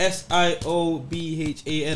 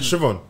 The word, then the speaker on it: Siobhan: What's the Irish way of spelling when it's spelled S-I-O-B-H-A-N? Siobhan. Siobhan.